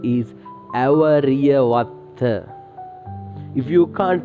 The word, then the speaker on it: Awariyawaththa: That name is Awariyawaththa. If you can't pronounce this name, I will make this with spellings.